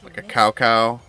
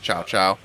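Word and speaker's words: Cao Cao: thinking of doing like a cow cow um but i suppose it's pronounced chow chow uh but you know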